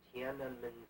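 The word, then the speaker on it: Tiananmen: I said, "Even if they kill everybody who is ever in Tanun Square," and I'm one of the few people that pronounced it correctly. Hard to get that NM in Tan.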